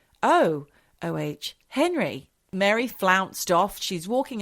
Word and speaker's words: O. Henry: her boyfriend at the O. Henry Ballroom. I say it like that, Michelle, because it says O. Henry. It's not like O, Henry, like an Irish name. It's O-H, Henry.